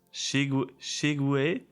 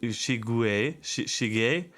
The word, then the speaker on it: Cheguei: Shige. Okay, it's not Shigue. Shige a casa.